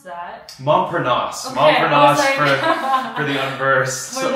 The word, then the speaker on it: Montparnasse: the role of, I don't know how to pronounce that. Montparnasse.